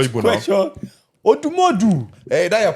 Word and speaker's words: Odumodu: He's not Odumedu. You're even Igbo, and you're pronouncing it the wrong Guys way.